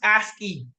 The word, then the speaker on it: ASCII: if I'm being honest with you but it's pronounce aski oh it is ice aski stands for American